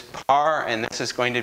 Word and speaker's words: par: 1 tau 2 and the typical pronunciation is par and this is going